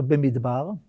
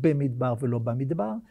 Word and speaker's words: Bemidbar: We're about to conclude the reading of the Book of Numbers, and I'm proud of the fact that we've all pronounced it "Bemidbar" and not "Bamidbar", and we should remember